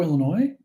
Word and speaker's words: Illinois: of the other uh and the s in Illinois is corre correct is silent also I heard um somebody on the